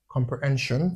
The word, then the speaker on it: comprehension: So that means when it comes after a consonant sound, you should pronounce it as shh.